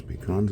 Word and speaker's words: pecan: So you can see those pecans a little bit better. And that's the way we pronounce them here.